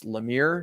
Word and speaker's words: Lemire: Now, last week, like I swear I've heard him say Lemire in person. Taylor has said that it's Lemire.